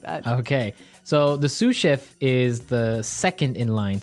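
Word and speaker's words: sous chef: Sue cheef. Sue cheef. S o u s. So the s is silent because it's like a French word. Yeah. Something like that. Okay. So the sue chef is the second in line to the head chef.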